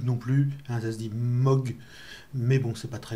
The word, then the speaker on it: Moog: au modèle d ailleurs qui se dit pas mouche non plus un nazi moque mais bon c'est pas très grave donc on